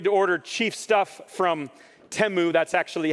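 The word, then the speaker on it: Temu: They aren't afraid to order chief stuff from Teu. That's actually how it's pronounced.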